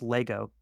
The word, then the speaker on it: Le Ego: But he's been living in France because he's been working with Louis Vuitton, and in France, um, Le Ego is pronounced Lego.